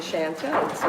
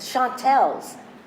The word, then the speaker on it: Chantels: It had a more sophisticated sound than the flattened A of Chantel. So once we got it together, so you said, oh, that sounds good, the Chantels. And we were the Chantels. Nobody pronounced it correctly. They flattened the A and made us the Chantels.